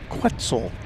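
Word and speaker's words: quetzal: Respend respplendant quitzel rhymes with pretzel.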